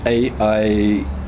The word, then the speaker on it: Eita: So you pronounce it Aitah, kind of, but you spell it Eita.